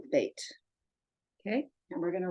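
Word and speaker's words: בּ: over here the way the bait is B VAP is V gimel good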